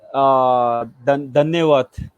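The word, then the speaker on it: धन्यवाद: Hindi, Dhanyawad. Danewat. Oh, Tunjeje. Danewat.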